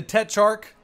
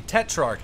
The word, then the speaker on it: Tetrarch: We're on El Alamein with the Tetrarch. I said it wrong. The Tetrarch.